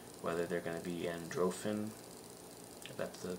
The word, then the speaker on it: Androffan: the same so whether they're going to be androphin that's the pronunciation for it but you can represent that